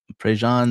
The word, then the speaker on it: Prejean: Carrie, how do you pronounce her last name, father? Prejean? Prejean Bowler.